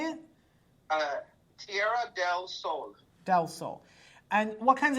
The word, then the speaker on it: Tierra del Sol: Tierra del Sol.